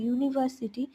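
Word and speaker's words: university: আবার নিচে দেখো ইউনিভার্সিটি, ইউনিভার্সিটি, ইউনিভার্সিটি ইউ দিয়ে শুরু হয়েছে, কিন্তু ইউ ভাওয়েল সাউন্ড হওয়া সত্ত্বেও যেহেতু উচ্চারণ ভাওয়েলের মতো হচ্ছে না, আমব্রেলার ক্ষেত্রে দেখো উচ্চারণ করি তো আমরা, তো ইউনিভার্সিটির ক্ষেত্রে কিন্তু আমরা ইউ উচ্চারণ করছি, তাই তার আগে এ বসেছে।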